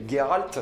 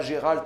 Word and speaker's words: Geralt: que plantage principal s'appelle geralt je ne dirais pas gérald je déteste la prononciation de gérald je dirais geralt jusqu'à la fin de ma vie je suis désolé grosso